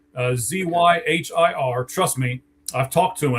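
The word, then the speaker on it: Zyhir: Uh I I hear a lot of people mispronouncing his name, by the way. It really is Zire. Zy Hir.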